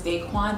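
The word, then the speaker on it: Daiquan: My name is Daquan. Yes, it is Daquan. Don't disrespect my name. A lot of people be like, when they hear that, but no, it is Daquan, and it is spelled D-A-I-Q-U-A-N, like Daquan. It is not Daquan, it's not Daquan, it's not Daquan. It is Daquan. That's how I pronounce it.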